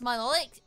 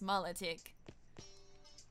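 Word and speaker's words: Milotic: my low tech so whoever says my like or something like that is the pronounced correct pronunciation is incorrect it's mullet ick yeah I couldn't have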